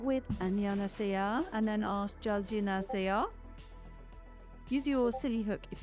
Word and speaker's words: 잘 지내세요: Start with 안녕하세요 and then ask 잘 지내세요. Use your silly hook if you need it. 안녕하세요. 잘 지내세요. Really close. Try 잘 지내세요.